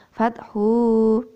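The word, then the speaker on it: الفتح: Tadi dibaca fathu. Harusnya pendek.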